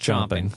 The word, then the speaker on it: champing: champing chomping chomping chomping spelled champing but it's pronounced chomping yeah to get into